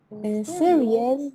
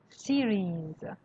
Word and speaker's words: series: سریز. نه سیریز.